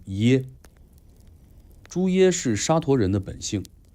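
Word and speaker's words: 邪: Aquí, necesito explicar el "Xie" en su nombre. No se pronuncia de la manera común; en este contexto, "Xie" es un apellido especial de una antigua tribu turca , pronunciado "ye".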